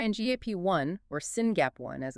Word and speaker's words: SYNGAP1: this Gene goes wrong s y gap1 or singap one as it's pronounced is a gene that provides instructions for